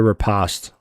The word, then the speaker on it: Riposte: Riposte or riposte?